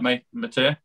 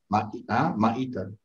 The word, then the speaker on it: Maita: Am I saying it right, Matea? Maita.